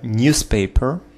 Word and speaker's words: newspaper: Newspaper, newspaper, newspaper, newspaper, newspaper. Ударение на первый слог.